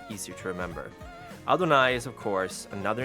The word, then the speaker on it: Adonai: like I adna let's call it adna it's Adonai right yeah y yes it's spelled a little bit different uh if you